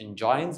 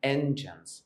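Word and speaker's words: engines: بتتنطق غلط كتير هي ما اسمهاش انجاينز اسمها انجينز اسمها ايه انجنز انجين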